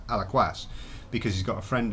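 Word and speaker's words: Alaquàs: I went to Alaquas, which I pronounced wrongly Alaquas when I spoke to my son. He said, no, it's Alaquas, because he's got a friend who lives there.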